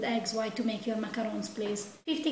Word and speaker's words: macarons: salted caramel macaron today I'm making macarons or macaroons it depends how you want to pronunciate it macarons is probably the correct way because these biscuit are made in France so you could put